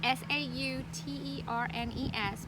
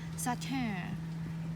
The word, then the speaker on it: Sauternes: turn soft turn Salter so like its sau ter NES but you pronounce it like putting together s aw like a soft and turn like I mean it's French and if you really want to be French they said Saturn and you never said